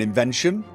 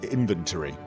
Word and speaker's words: inventory: I mean, I said I would tend I would tend to mock it and say um like invent as in you know an invention. So inventi whereas the correct saying is of course inventory I believe I believe that's the pronunciation in both languages.